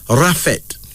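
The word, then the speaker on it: Raffet: b o then this r a f f e t pronounced rafet this is an Arabic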